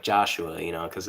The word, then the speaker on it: Joshua: but um anyway also it's not Josh it's Joshua you don't leave out two of the syllable that's okay I'm sure